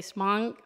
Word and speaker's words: Hmong: Can you pronounce that for me? Is it Hmong descent? Did I say that correctly? Okay, Hmong descent.